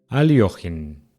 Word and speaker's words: Alekhine: Buenas, hoy les traigo una partida histórica del cuarto campeón mundial de ajedrez, Alexander Alekhine, o con la pronunciación correcta proveniente del ruso, Aliojin.